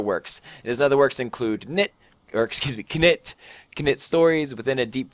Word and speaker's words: Knytt: watched my J Smith IRL video, I now pronounce it Knytt because I watched a video with actually Nifflas, the creator, in it, and that's how he pronounced it. So it's not Knytt, it is Knytt.